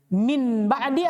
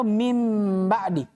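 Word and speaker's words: من بعد: Tapi bagaimana cara bacanya? Min ba'di atau mim ba'di? Pakai mim.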